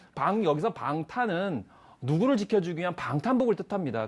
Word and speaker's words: 방탄: 대부분 이제 방탕이라고 잘못 발음할 수도 있는데 여기서 방탄은 누구를 지켜주기 위한 방탄복을 뜻합니다.